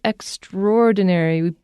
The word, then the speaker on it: extraordinary: So this extraordinary ability, extraordinary, you could call it extraordinary, but we pronounce it extraordinary. We make the A and the O kind of the same sound. You can pronounce it either way, though.